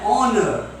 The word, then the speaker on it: honor: An honor. So, here also H is silent.